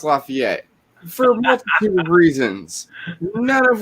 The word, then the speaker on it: Lafayette: lafayette all the time i knew how to pronounce it quote unquote correctly i just didn't bother because i thought saying lafayette was funny because i'm putting a french thing on it's like it was